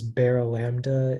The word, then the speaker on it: Barylambda: Yeah, so the only pronunciation is baralambda.